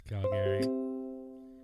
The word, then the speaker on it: Calgary: For all of you people that don't know how to pronounce the second A. It's Calgary.